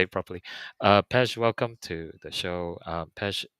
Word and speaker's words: Pezh: I've got Pez, called all Pez.